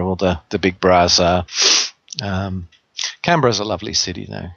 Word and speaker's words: Canberra: So, Peter is in the capital district of Australia, in Canberra. Is that how you pronounce it? Canberra? Is it? We're Canberra. Canberra. Canberra. See, I always said Canberra. Yeah. Canberra. Yes. like Yogi Berra, you know.